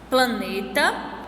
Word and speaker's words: planeta: Então, a gente pode observar aí duas palavras, planeta e solidão. As sílabas mais fortes são ne em planeta e dão em solidão.